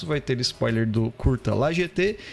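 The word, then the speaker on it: La Jetée: Eu pesquisei, Goiás, é La GT mesmo, cara. É O Pier, né? A pronúncia é GT mesmo.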